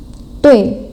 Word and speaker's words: 对: Kalau yang 对 tadi nada 4 ya. 对, jadi bacanya dihentak.